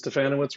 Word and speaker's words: Stefanowicz: ahead of the game because stefanowitz rhymes with banana wits you never know how